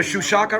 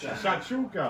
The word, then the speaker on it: Shakshuka: All right, this is the Shushaka right here? Shakshuka. Shakshuka. How do I pronounce it?